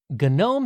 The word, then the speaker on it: GNOME: up to this point gnome had been a GNU project hence the intentional pronunciation of the g at the beginning but late in the